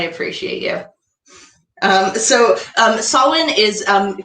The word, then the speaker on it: Samhain: you um so um sawwin is um commonly mispronounced as samhain because that is how it's spelled in language does that